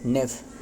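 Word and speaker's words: knave: नेफ देखते हैं। नेफ कह लो या फिर मतलब के साइलेंट रहे।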